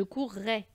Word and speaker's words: courrai: courrez et elle couront pourquoi on entend le double r dans le verbe courir parce que sinon on peut le confondre avec l'imparfait par exemple où on